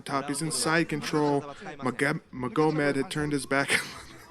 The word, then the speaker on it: Magomed: Magomed had turned his back. It's actually easier to say the guy's name how it should be pronounced, Magomed instead of Magomed.